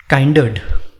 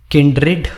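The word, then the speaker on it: kindred: Next, काइंडर्ड, इसको किंड्रेड बोला जाता है, रेड नहीं, ठीक है। काइंड रेड कुछ लोग बोलते हैं, लेकिन किंडरेड एक बेटर प्रोनाउंसिएशन होता है।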